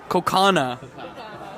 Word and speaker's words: Kaukauna: Kaukauna? Kokana. But it's spelled cow-cow-na. Waukesha.